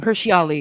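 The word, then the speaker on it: Hirsi Ali: Hirshi Ali.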